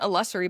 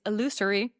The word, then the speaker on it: illusory: I've been saying illusory, but apparently, according to the internet, it's illusory.